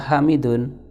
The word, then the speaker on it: Hamidun: Nama dia itu adalah Hamidun, tapi kita membacanya dengan waqaf, dengan diwaqafkan, sehingga huruf yang terakhir dibaca dengan sukun.